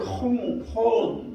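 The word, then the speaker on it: הוֹן: 여러분, 여기서 이제 이 내 재물이라고 말해주는 재물을 혼 이렇게 발음하는데 충분한, 족한, 재물, 부, 물질 이런 의미를 가지고 있어요.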